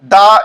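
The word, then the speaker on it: the: এখানে দাদি এর মাধ্যমে দা এই ওয়ার্ডটিকে বোঝানো হয়েছে। এই ওয়ার্ডটি যখন কনসোনেন্টের পূর্বে বসে তখন তার উচ্চারণ দা হয়, আর যখন ভাওয়েলের পূর্বে বসে তখন তার উচ্চারণ দি হয়।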